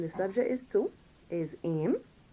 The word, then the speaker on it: aimes: subject is to, is aim. It's pronounced the same way, don't mind the S, aim. A-I-M-E-S.